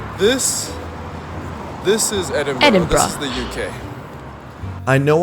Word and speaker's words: Edinburgh: Like this is Edinburgh.